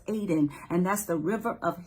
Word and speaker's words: Eden: It says Eden, but it's pronounced Aden.